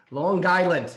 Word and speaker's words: Long Island: Long Island. You can always tell Yes. with the hard G.